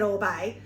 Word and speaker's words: Oribe: Someone said orbay. We say oribe because we're Aussies and we're Ocker. We're Ocker Aussies, so we got to stick with oribe because why not? That's our word, right? It's pronouncing every syllable.